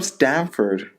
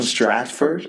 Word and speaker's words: Stratford: you said it wrong last time he's from Stamford no he's from Stratford you said it wrong last time I listened